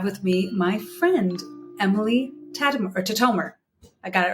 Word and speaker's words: Tatomer: And today I have with me my friend, Emily Tatomer.